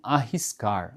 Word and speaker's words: arriscar: Eh, quando o r se encontra no meio da palavra, né, com uma R só, a gente pronuncia com o ra, certo? Agora, eh, tem uma outra indicação importante que se a letra R for acompanhada duplamente, né, RR, né, aí ele vai ter uma outra pronúncia, um outro som.